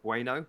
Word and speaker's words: Bueno: I've had people like Patterson all season and Williams, but I've gone for Bueno. I think is how you say it. Like the chocolate bar from Wolves.